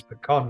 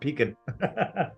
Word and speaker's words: pecan: totally pronounced that wrong it's pecan not peeking ah depends on where you're at Pekin pecan potato